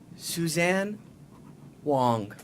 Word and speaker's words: Suzanne Whang: a very awesome energetic guest with us today Susan Wong thank you for pronouncing it correctly I I was I was